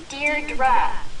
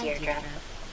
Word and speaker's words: Deirdre: Hi, Edie. Deirdre. I know it's got that tricky second syllable, but I figured it out by age 2. Don't give up. You'll get there. Sorry. Hi, Deirdre.